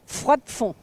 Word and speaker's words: Froidfond: Froidfond. On prononce Hervé, il faut noter.